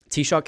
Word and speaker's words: Taoiseach: And he told me, Taoiseach is how it's pronounced.